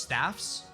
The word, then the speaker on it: staves: That's actually pronounced staffs.